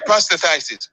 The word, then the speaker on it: prostatitis: Yeah, prostatitis.